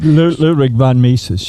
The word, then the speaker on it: Ludwig von Mises: this name, so you can correct me, but Ludwig von Mises or Ludwig von Mises, I'm not sure. Ludwig von Mises.